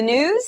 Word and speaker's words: Gnooze: Hello and welcome to the news. The G is silent.